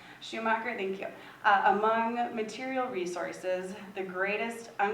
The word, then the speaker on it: Schumacher: Schumacher, I guess I don't know exactly how to pronounce his name. Schumacher, thank you.